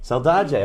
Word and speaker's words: Saldaje: Saldaje.